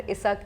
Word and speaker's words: ishq: उसमें ISAK word आया, because ishq is pronounced as ISAK in the neighboring areas in the, you know, Purabiya Bhasha here.